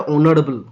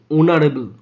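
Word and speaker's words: honourable: ই এর উচ্চারণটা অনারেবল অনারেবল অনারেবল আমরা জানি এইচ এর উচ্চারণ যদি হয় এর মত হয় এ বসবে হ এর মত না হলে এন বসবে এখানে হ এর মত হয়নি অ এর মত হয়েছে তাই বসছে অ্যান অনারেবল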